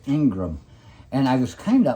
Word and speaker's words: Ingraham: Yeah, it's spelled Ingraham, but it's pronounced Ingram.